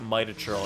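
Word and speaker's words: Mitachurl: in a recent Quest Pokemon pronounced it might achirl and I was like oh my God that's how you're supposed to pronounce it really quietly and then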